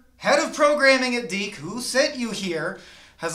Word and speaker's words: DiC: Disney Dick? No, I don't think Walt's Frozen Head would go for that one. D. It's D. It's pronounced D.